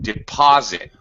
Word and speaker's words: deposit: Deposit. Deposit. Deposit. Yes, you will deposit the money in the bank account. So deposit. It has second syllable stress.